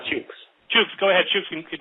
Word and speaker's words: Chuks: Is that Chooks? Did I pronounce that correctly? Hit star 7. No? Can't hear you. Can you hear me? Yeah, go ahead now. Perfect. Yeah, it's Chooks.